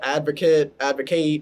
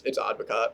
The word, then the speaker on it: Advocaat: But I like to tell people Advocaat, Advocate. I just tell people everything, but it's Advocaat.